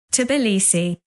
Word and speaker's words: Tbilisi: I have got the proper pronunciation for it, so I'm just going to play this for you. Tbilisi.